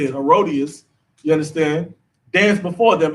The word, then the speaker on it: Herodias: The daughter of Herodias danced before them and pleased Herod.